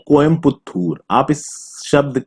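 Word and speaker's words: கோயம்புத்தூர்: आप इस शब्द के वर्डिंग्स को देखिए, ये कोयम्बटूर आपको ज्यादा लॉजिकल लग रहा है या कोयम्पुत्थूर आपको ज्यादा लॉजिकल लग रहा है? तमिलनाडु गवर्नमेंट का बोलना है कि ये जो कोयम्पुत्थूर है, this is the right spelling, this is the right pronunciation, जो कि इंग्लिश में गलत हो जाता है।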